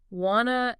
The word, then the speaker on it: wanna: Think of the famous ones, wanna and gonna. Right. Wanna is want to. Exactly. It's a reduction of want to, what happens phonetically. The T sound at the end of want usually disappears completely, and the vowel sound